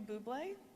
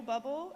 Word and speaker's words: Bublé: But to Michael Bublé, or Michael Bubble, as John pronounced it, as he read your